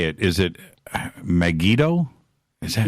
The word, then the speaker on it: Megiddo: don't know how to say it is it megiddo is that megiddo yes okay is is is this something that